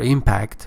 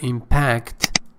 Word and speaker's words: impact: Remember, impact is a verb. The stress changes to the or is placed on the second syllable, and impact is the noun with the stress on the first syllable.